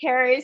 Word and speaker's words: Caru: a little bit confusing it's um pronounced Carri spelt Karu very confusing oh so I'm sure